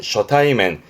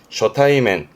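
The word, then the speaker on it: 初対面: 발음은 쇼타이맨 쇼타이맨 우리가 뭐 첫만남 개념이지만 일본에서는 초대면 쓴다라는 쇼타이맨 쇼타이맨 발음 쓰기시고요.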